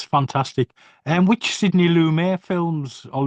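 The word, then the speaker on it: Lumet: And which Sydney Lumere films or Lummet I don't know how you pronounce it properly. Um, Sydney Lamett.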